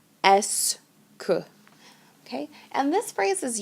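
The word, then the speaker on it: est-ce que: that phrase is okay these two words are pronounced together s k okay and this phrase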